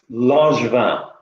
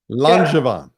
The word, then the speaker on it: Langevin: It's a French name, and it's pronounced Langevin. Langevin.